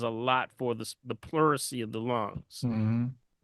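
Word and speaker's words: pleurisy: The herb is actually called puricy. Okay. Plury. How do how do you spell that, Dr. Mhm. Pluracy. P L U R I S Y P L Excuse me.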